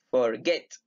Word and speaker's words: forget: por ejemplo forget ok forget donde tiene la mayor fuerza de voz gets en la segunda sílaba entonces tengo que repetir